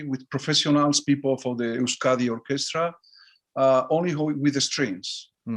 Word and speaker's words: Euskadi: Is that how you pronounce it? Yeah, Euskadi, yeah.